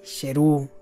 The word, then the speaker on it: Sheru: película en inglés Leon bien pues es porque saru se enteró que todos esos años cual niño de 5 años no pronunciaba bien su nombre este era sheru que significa León estas imágenes de aquí son